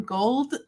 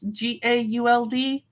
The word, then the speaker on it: Gauld: I think it's pronounced Ryan Gould, but it's Gauld.